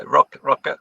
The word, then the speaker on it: Røkke: So Rune, you're going to have to pronounce me Røkke, is that? Yeah, Røkke, yeah.